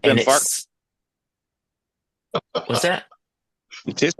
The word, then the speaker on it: Glenfarclas: Is it I, Glenfarclas? I don't know. I call them Glen litigious. You can call them what you like to call them. You can't say, but it rhymes with Farkless.